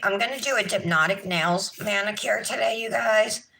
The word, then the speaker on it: Dipnotic: And it's a play on, like, you know, hypnotic, dipnotic, but it's spelled D-I-P, like dip, you know, for your nails.